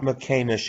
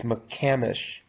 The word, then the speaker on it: McCamish: new pronunciation what it's it's not mccain-ish it's mccamish they didn't want to